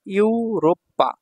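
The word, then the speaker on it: ヨーロッパ: এখানে ইউরোপের কথা বলছে এই যে ইউরোপ্পা এই যে রো সুটা ছোট আছে পা টা এখানে দুইবার উচ্চারণ হবে তাহলে হলো ইউরোপ্পা ইউরোপ ইউরোপ থেকে সে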